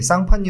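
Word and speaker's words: Champagne: 구분 못 하시더라고 이제 샤페이는 이제 프랑스에 이제 쌍판 라는 근데 이제 스펠링을 읽어보면 샴페인이라고 해요 그래서 그 지역에서 나온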